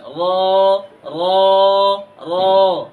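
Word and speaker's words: ر: সাথে এমনে লাগিয়ে দিবেন র মোটা আওয়াজে পড়বেন র র র আর যদি র এর উপরে আমরা একটা নক্তা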